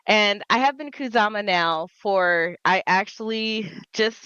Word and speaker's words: Khuzama: So, let's talk about how you came to be known as Kazuma. Okay. So, I have been and it it's the way I pronounce it is Kuzama. And I have been Kuzama now for I actually just recently counted it has been 20 years.